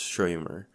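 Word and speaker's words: shomer: It's spelled S C H O M E R, but it's pronounced Shymer.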